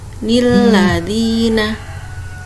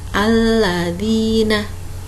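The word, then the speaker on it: الذين: Andai kata nun iwad di awal ayat tidak dibaca, harusnya nun iwad itu dibaca nilladina. Tapi jika nun iwad ada di awal ayat, makanya dibaca alladzina.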